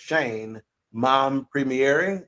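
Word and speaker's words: Shein Mompremier: was the one and only Shane and it's pronounced Shane mom premiering Shane mon Premiere uh she's a haitian-american actress actress best known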